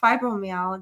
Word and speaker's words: fibromyalgia: It's fibromyalgia.